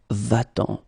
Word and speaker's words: va-t'en: And then if you combine it with the pronoun en, then it will become va-t'en. So you will keep the normal form, but then you will add this T between the verb and the pronoun.